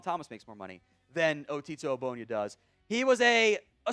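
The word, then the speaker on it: Ogbonnia: What Abonia does, besides having an elite football name, by the way, that is how it's pronounced, otto Aonia.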